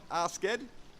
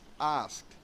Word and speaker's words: asked: It's not asked, it's asked. You must pronounce it with a T sound, with a T.